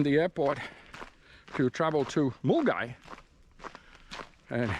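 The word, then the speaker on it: Milngavie: but when you read the word, it's Mulungavi. But anyhow, Mulgai, which is a northern far northern suburb of Glasgow.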